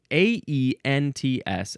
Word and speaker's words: Aents: Aints Chicham, Aents, and there's an accent on the E.